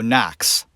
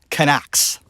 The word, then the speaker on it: Knox: America vet last name the K it's like it's not there it really should be n OC KS when you look at it you go knocks that's how it's pronounced not connects the crime footage that